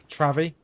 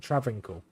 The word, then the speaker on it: Travincal: We're now heading towards Travi, or Travincial, or Travincal. How do you pronounce it? Travincal.